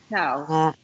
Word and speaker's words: Towes: Towes. Towes, okay. And it is a bioresonance alchemist and ancient destiny cardiologist. Towes. So it's like a D and not a T? Yeah, Like, Towes, yeah.